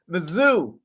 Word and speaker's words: Mizzou: Mizzou. That's really how they say it.